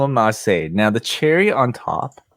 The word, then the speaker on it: ma.çé: will be how do you how did you pronounce it now you can call him marseille now the cherry on top that sounds ridiculous